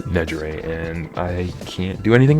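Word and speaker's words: Nejire: my hero and I thought her name was Najiri, but it's pronounced Najger and I can't do anything about that.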